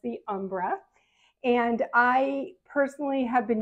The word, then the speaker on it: Ombra: to pronounce it the Umbra I give it a little Italian flare but I believe it's generally pronounced the Umbra and I personally have